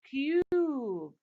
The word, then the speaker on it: cube: When I add the silent E at the end, the vowel letter in the end, says its name, so it becomes cube.